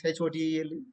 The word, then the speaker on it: hotel: HOTEL? Hotel? Hotel? No, it is hotel. Ha, O, O, T, L. Hotel.